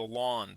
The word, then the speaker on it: ln: to calling it The Lawn the natural logarithm and so the pronunciation is like the grassy lawn in front of your house so that's G of